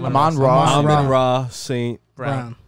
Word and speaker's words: Amon-Ra St. Brown: Amon-Ra St. Brown.